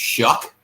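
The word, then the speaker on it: Shough: when Tyler shook it's actually s-h-o-u-g-h but it's pronounced Chuck like what is that Irish I don't remember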